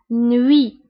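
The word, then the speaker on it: nuit: هنا تي في اخر الكلمه لا ننطقها نوي.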